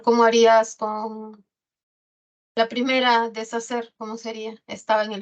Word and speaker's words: deshacer: Profesora, se pronuncia deshacer, ¿qué está haciendo? ¿No? Muchas se equivocan. No, la H no suena, ¿ya?